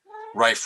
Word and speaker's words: Rife: of the rife building rife rhymes with knife had stayed in high